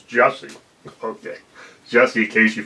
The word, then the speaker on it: Jussie: It's not Jesse, it's Jussie.